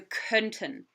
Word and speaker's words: könnten: Oops, sorry, I mispronounced this. Wir könnten nicht länger warten. So we get back that umlaut.